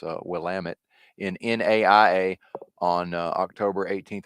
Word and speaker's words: Willamette: shout out to Oregon I can actually properly pronounce uh Willamette in NAIA on October 18th of 97 Katie